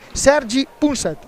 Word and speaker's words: Sergi Punset: numero 26 è Andrea Bigarella, l'allenatore invece è Sergi Punset. Ho pronunciato bene?